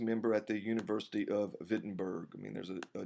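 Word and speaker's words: Wittenberg: became a faculty member at the University of vitberg I mean there's a a w there but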